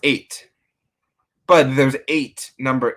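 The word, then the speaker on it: ætt: So and it's pronounced 8.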